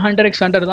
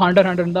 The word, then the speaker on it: Hunter × Hunter: ஹண்டர் எக்ஸ் ஹண்டர் தான், பட் நம்ம வந்து ப்ரொனவுன்ஸ் பண்ணுறப்போ ஹண்டர் ஹண்டர் தான் ப்ரொனவுன்ஸ் பண்ணுவோம். நானே என்னோட யூடியூப்ல நான் போட்ட ஃபர்ஸ்ட் வீடியோவில் கூட ஹண்டர் எக்ஸ் ஹண்டர்னு தான் வந்து பார்த்தோன்னா ப்ரொனவுன்ஸே பண்ணியிருப்பேன். பட் அப்படி நீங்கள் ப்ரொனவுன்ஸ் பண்ணாதீங்க, ஹண்டர் ஹண்டர் அப்படி தான் நீங்கள் இந்த அனிமே வந்து ப்ரொனவுன்ஸ் பண்ணணும்.